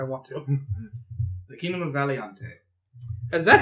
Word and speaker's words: Valiante: The kingdom of Valiante. Is that how it's pronounced?